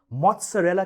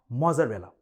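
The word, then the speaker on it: mozzarella: चीज दी जाती है जिसे मौत सरैला कहते हैं नॉट मोजरेला अब यह मोजार्ट को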